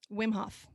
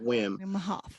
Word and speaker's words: Wim Hof: Wim Hof. W-I-M, Wim. Wim Hof.